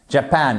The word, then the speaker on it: Japan: Donc on accendue, on accentue pardon la seconde syllabe. Japan et pas Japan. Non Japan. Japan.